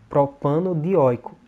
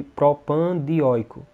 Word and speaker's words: propanodioico: caso aqui, ó, dioico, então eu tenho de colocar esse O aqui para ficar mais fácil de eu pronunciar. Propanodioico. É bem mais fácil de pronunciar do que propandioico.